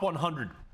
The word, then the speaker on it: Episode X: It is 10, by the way. It's pronounced 10.